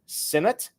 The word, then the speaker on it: Sinnott: Moving on to Kansas State, Ben Sinnott.